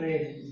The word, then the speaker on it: read: इसको रीड, रेड, रेड, ध्यान रखना। अभी इसका उच्चारण होगा रेड।